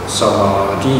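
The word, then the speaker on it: samādhi: So the proper pronunciation shall be Samadhi. Okay, Samadhi, the long vowel is in the second part.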